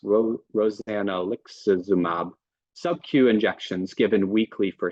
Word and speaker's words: rozanolixizumab: The newer one, rozanolixizumab, which I mispronounced, rozanolixizumab, sub-Q injections given weekly for 6 weeks, and then a period off, and then redosing.